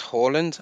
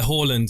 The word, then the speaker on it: Haaland: I think it's Haaland apparently. Is it? Yeah, Haaland apparently is how you say it.